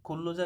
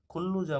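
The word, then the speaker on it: 근로자: হচ্ছে কোম্পানির কর্মচারী খুল্লুজা খুল্লুজা মানে হচ্ছে শ্রমিক খুল্লুজা কেন বললাম নিয়ন বাচ্চিমের পরে যদি রিয়েল আসে তো ল উচ্চারণ হয় কুল্লুজা মানে শ্রমিক এখানে আছে খেয়ংসালগুয়ান খেয়ংসালগুয়ান হচ্ছে পুলিশ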